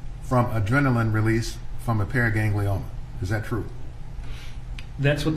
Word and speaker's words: paraganglioma: for clarification is it is it pronounced periganglioma or para ganglianola yeah i obviously i often add in the extra vowel so it's a pair